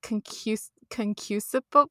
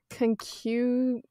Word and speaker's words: concupiscible: And he said it's concusable.